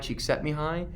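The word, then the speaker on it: Csikszentmihalyi: famous Hungarian psychologist Mihai Cheeks set me high that's how you say that spell his name it's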